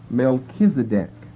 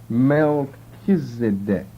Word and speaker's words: Melchizedek: Melchizedek now can you see Malik in there m-e-l and then all we need is an e that's just dropped out e c h pronounced like a k and there you've got